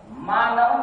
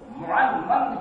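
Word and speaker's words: معنون: مانو نہیں ہے, معنمن ہے. بعض تلفظات کی اس طریقے کی غلطیاں ہوتی ہیں, ظاہر کہ تلفظ اگر صحیح نہیں ہے تو اگر شعر کے اندر قافیہ وغیرہ کے اندر اس لفظ کو باندھے گا اس کو مانمن پڑھ رہا ہے, جبکہ وہ معنمن ہے.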